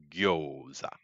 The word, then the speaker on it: gyoza: All of a sudden, I have gyoza. he has gyoza. It's actually pronounced gyoza. Gyoza, but I'm not gonna. It's America, so I'm not gonna be like yo.